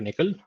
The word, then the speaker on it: NCCL: as backend equal to Nickel nccl it's pronounced as nickel um I think the